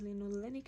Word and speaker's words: linolenic: And whereas in omega 3 we have linolenic acid, there's a slight difference in the pronunciation. Omega 6 is linoleic acid and omega 3 is linolenic acid.